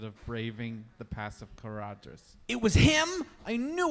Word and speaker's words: Caradhras: pronounced Caradhras.